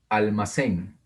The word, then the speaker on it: almacén: Almacén. Almacén. Una palabra aguda terminada en N.